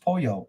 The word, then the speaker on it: Paulo: Paulo is pronounced Pollo.